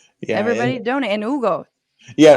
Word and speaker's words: Hugo: And Hugo. yeah. Our website is Hugo. It's HUGO. The H is silent.